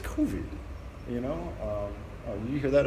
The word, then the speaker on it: COVID: But also the melancholy that I've got right now is it's COVID. You know, you hear that? I just pronounced it French.